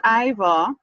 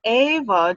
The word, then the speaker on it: Eivor: Now don't pronounce her name as Eivor. That is what I thought too, but that's why I made sure I got the pronunciation. It's Eivor, and she's actually in